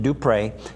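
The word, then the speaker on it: Dupuy: Merkel Dupre, and they pronounce it Dupre. It's D-U-P-U-Y, and that family comes from the Avals Parish area.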